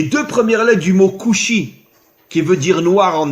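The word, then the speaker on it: כושי: En hébreu, le mot noir se dit couchi.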